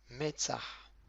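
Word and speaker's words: מצח: Numéro 2, Metzah. Donc on a le même avec un tséré en dessous. Donc le même prononciation du M. Le tséré, c'est le E accent grave.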